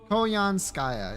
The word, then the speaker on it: Koyanskaya: I'm missing Konyan Saka. What the fuck? How do you say her name? Of Light? I have the post-it already. It's lying to you, remember? Koyanskaya.